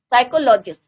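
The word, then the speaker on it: psychologist: What do द साइकोलॉजिस्ट, यहाँ पे क्या होता है बच्चों, पी साइलेंट है। साइकोलॉजिस्ट, educators, parents want to teach the children.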